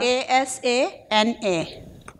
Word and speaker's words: Asana: you pronounce it again Asana a s a n a Asana okay any other tools